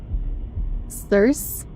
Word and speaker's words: Circe: It's pronounced like purse, but with an S instead of a P. Circe?